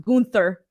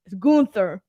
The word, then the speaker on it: Gunther: were calling him walter branson ronan says it's pronounced gunther gunther gunther that's very hard for me to say